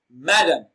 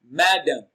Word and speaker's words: madam: louder and longer so madame madame madam madam receives the stress on its first syllable so the answer to this question is option a madam madam ma is pronounced louder and longer all right we will